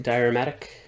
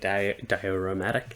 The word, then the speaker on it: Dioramatic: this is my first diurmatic and I think that's how you say it dioromatic because it's a diorama um figure and they've